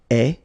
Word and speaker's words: ais: The good news is that even if we write them differently, like you see here, we pronounce them the same way. And it goes like eh, eh, eh.